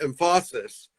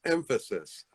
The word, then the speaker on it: emphasis: audio file it's not emphasis no it's emphasis with the accent on the first syllable ah right something like